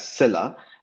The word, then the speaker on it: Sila: so I'll say that I pronounce it uh as Cilla but it also has the meaning of uh I think like force or strength in Russian and other you know Eastern European languages and that is pronounced as Sila um but I've always